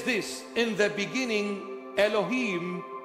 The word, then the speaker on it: Elohim: this in the beginning Elohim or Alim Alim our way of pronunciation in the beginning Elohim